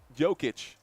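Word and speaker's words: Jokić: Both teams are going Jokic.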